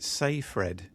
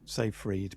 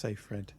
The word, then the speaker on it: Seyfried: Seyfried, apparently you pronounce it Sayfred, she says. Sayfred, okay. Yeah, yeah, a lot of people used to say Seyfried, but yeah, it's Sayfred.